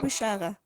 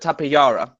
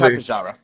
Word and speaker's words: Tapejara: I pronounce it Tapejara. I would say Tapejara, personally. Even though I've heard people call it Tapejara or Tapejara. But just go with Tapejara.